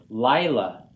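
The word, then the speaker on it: לילה: Lila. Accents on the first syllable.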